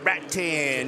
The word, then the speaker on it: Rattan: You got it, Rattan.